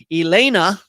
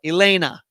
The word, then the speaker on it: Elena: within the sport also my name is pronounced like elaine but with an a at the end there you go elena i got it all